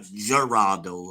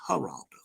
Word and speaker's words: Geraldo: It's not Geraldo, all y'all ignorant people. It's Geraldo. So he's the one that's been feeding information to various YouTubers.